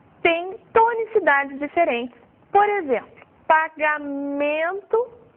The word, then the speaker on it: pagamento: Por exemplo, pagamento, a sílaba forte dessa palavra é no man.